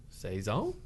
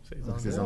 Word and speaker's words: saison: How do you say season in French? Saison, isn't it? Saison 2. Saison.